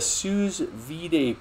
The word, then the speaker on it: sous vide: YouTuber JC Insaniac said he uses a sous vide probe in the open keg.